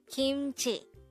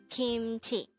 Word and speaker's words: 김치: hangout word number 273 kimchi kimchi this is pronounced as a two-syllable word the first syllable is kim second syllable is chi pronounce it with me kimchi kimchi the word kimchi is probably one among